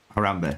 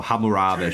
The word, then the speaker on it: Hammurabi: And then Harambe, there it is. Oh, Hammurabi, should I say. I'm saying his name wrong, but Hammurabi, there you go.